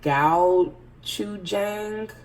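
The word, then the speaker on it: gochujang: to be this brand this is pronounced I think Gow - Jack it's a Korean fermented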